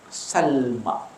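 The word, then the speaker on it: سلمى: Salma. Bukan Salma. Salma ni bahasa kita. Sin lam mim hamzah. Sin lam mim hamzah di atas.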